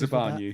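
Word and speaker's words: Zabarnyi: What is the pronunciation, Andy? I'm out of practice. Zabani.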